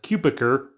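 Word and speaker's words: Cutebiker: So Tyler, that we learned the last name is pronounced Cupiker, becomes mayor.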